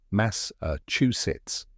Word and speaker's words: Massachusetts: a lot of people Massachusetts so how do you say it correctly correct pronunciation is mass sits let's break it down step by step first mass like the word mass in massive next uh like the